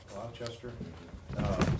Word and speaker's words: Gloucester: Gloucester.